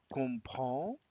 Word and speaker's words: comprend: Il connaît, il comprend, donc il comprend desaparece la S, de todas formas no se pronunciaba, et écrit avec T, tampoco se pronuncian las consonantes finales.